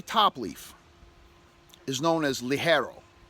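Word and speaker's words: ligero: so the very top leaf is known as li Harrow right it's pronounced Li Harrow it's spelled Leggero li ger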